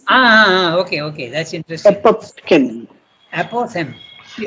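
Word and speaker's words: apophthegm: okay okay that's interesting APO the pH is not pronounced and the g is also not pronounced okay and that's English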